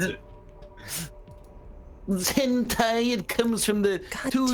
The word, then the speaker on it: hentai: You see that guy's name is Tom Clancy's Sum of All Hente?